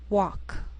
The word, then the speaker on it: walk: sheal it wheel Veil sometimes L can be silent so you have to